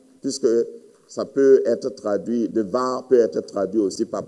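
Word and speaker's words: דבר: Et devar, ça se prononce devar, mais le rendement dans les versions françaises, c'est bar, lo, débar, débar.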